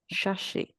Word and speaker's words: Shashi: of this chapter with Shashi is that how I pronounce it yeah Shashi Shashi yes okay um not sassy um again you know